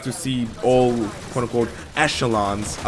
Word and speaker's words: echelon: o Elon yeah Echelon oh I always call them echelons no no it's it's Echelon it's it's a sound I know it sounds weird but that's a sound that's the proper way to say it damn the Americans in